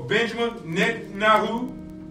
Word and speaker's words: Benjamin Netanyahu: But during our intercession prayer, when we're praying for our leaders of our land, we want to pray for Benjamin Netanyahu, and that's how to pronounce his name, over in Jerusalem, Israel.